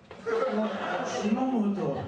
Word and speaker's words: Shimamoto: First way is, Shimamoto. When you say it, look at my, I don't know if you can see this, you gotta put the fish lips. Shimamoto.